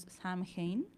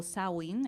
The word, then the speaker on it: Samhain: Que en la antigüedad la llamábamos Samhain o Samhain, era como se pronunciaba realmente en la antigüedad, y entonces era como el fin del verano.